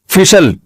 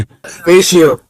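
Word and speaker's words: facial: फिशल फिशल फिशल फैशल। अबे सही pronunciation बुलवाया करो। फिशल ना फैशल। ये अमेरिका से आए हैं। ये सही बताएंगे। जी फेशियल फेशियल।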